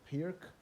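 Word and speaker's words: Pirc: him then he covers d6 so the czech pirk so that's the check appears to pronounce it correctly where he recommends f4 and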